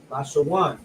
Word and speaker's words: Lashawan: This is how you will pronounce it: La, which is the La, the Sha, which is the Sha, and then the Wa and the Na come together, which is pronounced one. Lashawan.